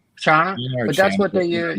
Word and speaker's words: Channa: It's CHANNA, I think, is how you say it. Chana.